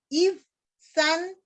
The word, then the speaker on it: Ibzán: Ibzán es con Z, acento en la A. Ibzán, Jueces 12:9, ya nos quedan poquito.